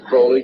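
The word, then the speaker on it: Crowley: about was aliser Crawley he likes to have his name pronounced Crawley to rhyme with holy and uh the satanists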